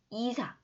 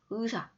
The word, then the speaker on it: 의사: 자, 어때요? 이사, 의사, 의사. 뭐예요? 무조건 의사라고만 발음해야 돼요. 이때는 무조건 의만 발음이 돼요. 알겠죠? 의로만 발음을 해요.